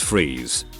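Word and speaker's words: Fries: to most mr freeze dr victor fryes pronounced freeze was an accomplished cryogenicist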